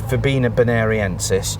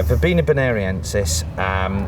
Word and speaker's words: Verbena bonariensis: This is Verbena bonariensis. I'm glad you said that, as usual. Yeah, people do themselves an injury trying to pronounce that. But yeah, Verbena bonariensis.